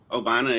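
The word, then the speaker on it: Obinna: What's his proper pronunciation of a name? Obini? Obina Akizi. Obane Akizi. Obina. Yeah. Obina.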